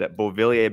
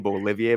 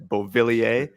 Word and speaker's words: Beauvillier: And Beauvillier, by the way, great pronunciation. I keep saying Bolivier by accident. It's not Bolivia, like Bolivia, it's Beauvillier.